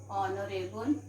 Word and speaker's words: honorable: H here is silent. Okay, like what to say, children? An honor, our, an honorable man.